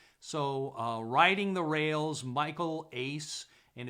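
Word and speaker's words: Uys: So Riding the Rails, Michael Ace, and it's actually spelled U-Y-S, but it's pronounced Ace according to Wikipedia.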